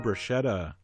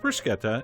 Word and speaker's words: bruschetta: foodies and want to really annoy them somebody pronounce this for Kota and mushroom bruschetta man do they hate that but it is pronounced bruschetta and this actually is not a true bruschetta